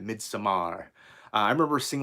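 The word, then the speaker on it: Midsommar: aster's second movie uh mid samar and you gotta say it like that mid samar i remember seeing like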